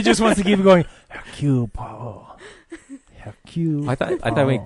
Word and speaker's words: Hercule Poirot: Hercule Poirot. Hercule. I thought we said Hercules Poirot. It was like a joke, but that's really his name. No, no, his name is Hercule Poirot.